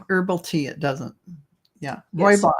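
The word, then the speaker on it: rooibos: Roy Boss. Royos. Yeah. And and Yeah. Yeah. I had to learn how to pronounce it. Roy Boss doesn't look like you would think.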